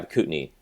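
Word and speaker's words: Kootenay: on with food and restaurants um do you pronounce it the cutney yeah cutney Cy cutney region yeah where is that uh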